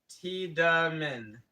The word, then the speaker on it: Tiedemann: Titan Comics says Tiedemann. I is silent. Oh. Tedman?